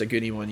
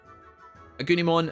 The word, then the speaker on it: Agunimon: Yeah, I think it's pronounced Agunimon, yeah.